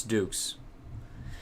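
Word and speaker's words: doux: but vegas dukes it's dukes so now i know it's pronounced that's the greek pronunciation and it means grand duke so oh jin says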